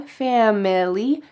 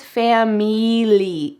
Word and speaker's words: family: She didn't say fam-ili with a short I, family. She says family, E. So oftentimes I hear Spanish speakers substitute a short I for a long E.